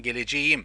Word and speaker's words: geleceğim: So, for example, ben geleceğim, just reminding guys for you, geleceğim not correct, so you should say ben geleceğim, soft G. K turns into soft G.